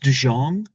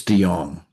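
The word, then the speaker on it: DeJonge: Olivia, last name pronounced DJ Jang. It's Dong. Dang. Okay. You see, I've never saw that last name before. So, the L is silent. Uh, well, the J is silent.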